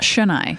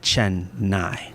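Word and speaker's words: Chennai: one quick word and I think they're hearing that as a single n there's two NS and they want to say Chen n Chen n and they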